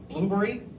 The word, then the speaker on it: Blubrry: 2 is a service called Blueberry, and there's no E's, BLUBRRY.